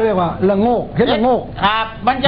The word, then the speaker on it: ระโงก: คำ ว่า อะไร ระโก ระโงก ระโงก ระโงก ด้วย ครับ กด ดุ ร เรือ สระอะ ร เรือ สระอะ สระโอ งู ก ไก่ อ่าน ว่า ละโงกโงก เออ ระโมง ถึง ครับ